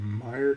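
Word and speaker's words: Myr: There's a Mere Custodian, or a Mire Custodian. I've heard people pronounce it both ways.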